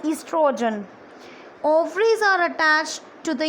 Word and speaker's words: estrogen: Okay, here O is silent and it is spelled as estrogen.